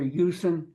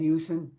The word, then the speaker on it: Usen: We call our Creator Yusen. It's spelled U-S-E-N, Yusen, and that is a word for God, the Creator Source, whatever you want to call Him.